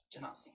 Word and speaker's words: Genasi: Ganassi? Genasi. Genasi. How do I say it? You say it, Can't say. You say it Phonetically?